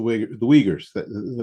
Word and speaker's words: Uyghurs: The Uyghurs are the Uyghurs. That's how it's pronounced.